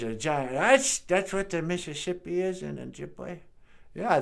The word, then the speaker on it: Mississippi: That's actually another mispronunciation of two Ojibwe words, Misabe and Zibi. A Misabe means giant, and a Zibi is a river. I think Mississippi is just the Ojibwe Misabe Zibi said real fast.